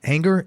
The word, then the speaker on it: Anger: Martin Tony Trischka and Darrel anger is an anger that pronounced that right that's right okay and his